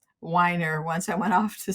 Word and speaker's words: Weiner: early because of my last name being pronounced weer when I was growing up it's now Wier once I went off